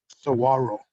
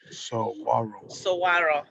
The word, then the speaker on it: saguaro: please uh then if you are able yes saguaro saguaro okay wonder flowers i'll write it the way i pronounce it so i don't forget so arrows